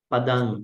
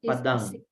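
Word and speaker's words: padaṃ: Padang, not NG. NG has a different way. So Padang. You have to make it a pure nasal. It's a nasal.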